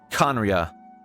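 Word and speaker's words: Khaenri'ah: destroyed 500 years ago kanria I'm glad you said that so I know how to say it conria left over from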